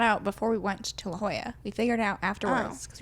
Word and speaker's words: La Jolla: have to do something so we're going to La Jolla because that's the only thing we can do right now um so we went to La Jolla or as Megan initially said legal and I was like it's not I did